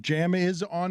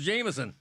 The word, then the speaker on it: Jamison: what that first name is uh is it Jam is on Hensley is it it's j-a-m-i-s-o-n Hensley is that a fine yeah of course who mispronounces Jameson come on ridiculous are you guys ready for